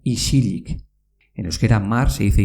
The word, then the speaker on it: isilik: Por ejemplo, en silencio, en euskera se dice isilik, pero se pronuncia isilik.